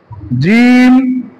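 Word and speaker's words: جيم: তিনটা বর্ণ একটা হচ্ছে জিম একটা হচ্ছে জাল আরেকটা হচ্ছে জী জাল র জিম হচ্ছে জিহ্বার মধ্যখান ওই বরাবর তালুর সঙ্গে মিলিয়ে উচ্চারণ করতে হবে জিহ্বার মধ্যখান এবং তালের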